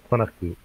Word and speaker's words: FANUC: So if you're interested in the Japanese pronunciation, it's Fanuku.